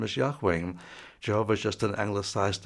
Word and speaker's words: Yahweh: really want to be accurate it would be yahweh's Witnesses Yahweh Witnesses but they don't say that